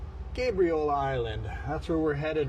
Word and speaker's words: Gabriola: So, Gabriel like the angel, not like Gabby. Gabriola Island.